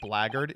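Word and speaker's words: blackguard: handbag for some reason black art is pronounced blaggard you know I think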